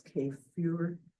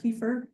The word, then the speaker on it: kefir: Has anyone tried, I say kefir, but that's not really how you're supposed to pronounce it. I think it's kefir is the true pronunciation, but kefir, I've tried to make dairy kefir.